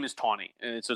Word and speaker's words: Taney: said the name is tawny and so it's not it's spelled t any why it's not taney it's tawny and so i hate